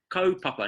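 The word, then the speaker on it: kaupapa: spelled k a u Co pa pa papa KO papa now ko Papa means a theme or an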